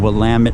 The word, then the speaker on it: Willamette: of course the mighty willamette river and that is how we pronounce the river's name willamette river like damn it to blame it and this river is